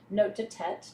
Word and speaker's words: note de tête: Note de tête.